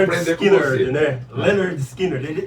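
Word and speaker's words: Lynyrd Skynyrd: O Ronnie Van Zant falou isso, eles não vão saber pronunciar, vão falar Leonard Skinner. Leonard Skinner. Então o primeiro disco chama Pronuncia-se Leonard Skinner.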